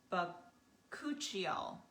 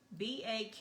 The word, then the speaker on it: bakuchiol: So what I did is I wrote it down phonetically so I could remember how to pronounce it, because when I just spelled it out, I was like, okay, I'm not sure I'm going to remember how to do that. So I just, I put B-U-H and then ku and chi and all, bakuchiol.